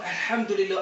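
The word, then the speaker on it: الحمد لله: kahulugan ay naga EXO ang Alhamdulillah ang ha Dito siya nanggagaling sa gitna ng lalamunan samantalang ang isa alham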